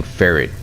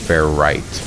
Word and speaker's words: Ferrite: watching my own video it sounded like i was saying ferret dust which i mean i guess if you want to pronounce it that way you probably can but i've always called it fair right dust so i'm pretty sure that that's what it is fair right not ferret i think i was just